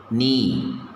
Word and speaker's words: knee: Knee. K is silent.